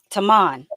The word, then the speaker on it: Tamon: Tamon.